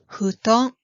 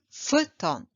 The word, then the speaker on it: futon: The Japanese bedding is usually labeled as futon. But how do Japanese people call it? Yes, futon, not futon.